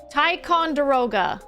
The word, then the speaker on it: Ticonderoga: Oh, I actually wrote the pronunciation of this next one. This is Ticonderoga.